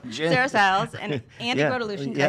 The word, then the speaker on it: Grotelueschen: Sarah Siles and Andy Grotolution. Yeah. Did I say it correctly? Yeah, Grotolution, yeah.